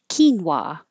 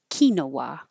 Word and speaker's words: quinoa: Quinoa. or kinoa in the United States. Quinoa pronunciation is is more common element.